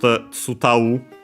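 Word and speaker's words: 伝う: And then this tsudau, on its own, actually you pronounced tsutau.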